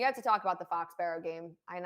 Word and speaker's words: Foxborough: the foxborough game and i say it with the philly accent i'm sorry foxborough i love it i love the way you say it how do you say it can you say it foxborough fox barrow you say fox barrow oh okay that's a